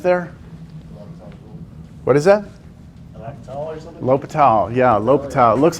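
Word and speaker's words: L'Hôpital: look it's it's pronounced l'hopital lopital um well Patel's rule the S is silent yes that's no excuse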